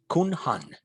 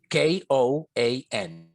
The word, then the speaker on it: koan: tibetan tradition is actually having a name kunhan k-o-a-n kun han or koan pronounce it you know english does funny stuff they try to anglicize name that originally has another sound right that's so funny